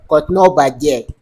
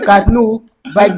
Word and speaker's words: Katno baje: katnu baju. You. You are wrong. It's Katno Baje.